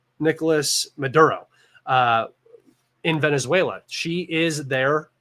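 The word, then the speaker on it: Nicolás Maduro: She is the person that they have chosen to replace I always say his name wrong. It's Nicolas Maduro in Venezuela.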